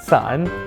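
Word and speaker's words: 伞: There's also the umbrella, which is pronounced san, which also means to separate, so you especially don't want to give this to your partner.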